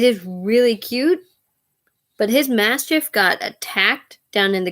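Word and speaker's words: Maschiff: gen 9 Pokemon called Mastiff at least that's how everybody online has been pronouncing this Pokemon's name you can't really tell from the actual spelling of the name but we'll call it master um and it is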